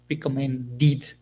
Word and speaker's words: recommended: Therefore, what we are going to do is add this sound id. Decide, decided. Recommend, recommended.